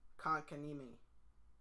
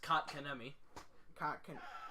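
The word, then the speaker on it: Kotkaniemi: Jespera Konkanimi. Oh, shoot. Yes, his last name is pronounced Kotkanemi.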